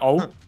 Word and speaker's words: og: Yeah, O. You don't see the G, you say O.